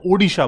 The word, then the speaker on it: ओडिशा: ठीक है, अब उड़ीसा नहीं बोला जाता है, ओडिशा बोला जाता है, उसका नाम चेंज हो चुका है, ओडिशा।